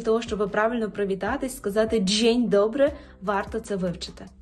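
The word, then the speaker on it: dzień: Шостий секрет – це є буквосполучення «д», «з» і «е», яке читається як «дже», «дже», «дже». Тут відбуваються такі впливи, що там насправді всю кашу заварює нам буква «і». «І» впливає на «дз» вплив... і робить нам «дж», а «і» сполучається з «е», і ви знаєте, що воно читається як «є».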